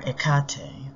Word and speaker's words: Hecate: you through some of hecate's stories a little bit about her and how we work with her in the temple from research the name hecate greek pronunciation or ekate the latin pronunciation means from afar which